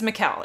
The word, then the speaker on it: Michal: It's Michal. It rhymes with Michelle. Michelle, Michal, Michelle, Michal. It's Michal.